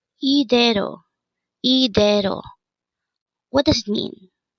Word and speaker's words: 이대로: Again, it's IDAERO. This pronounced as a three-syllable word. The first syllable is I, second syllable is de, and third syllable is ro. Pronounce it with me. IDAERO.